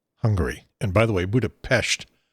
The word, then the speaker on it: Budapest: And by the way, Budapest is the proper pronunciation, the local pronunciation. You'll hear some folks say Budapest, some folks say Budapest. They prefer Budapest.